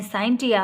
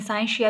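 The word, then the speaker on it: scientia: Latin word साइंस का उसको हम कहते हैं साइंटिया, और कुछ प्रोनाउंसिएशन ऐसी है जिसमें साइंशिया भी कहते हैं इसको।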